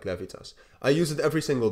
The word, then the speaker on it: Laevitas: how I use it I use levius because or levitas um I think you need to pronounce it like levitas I use it every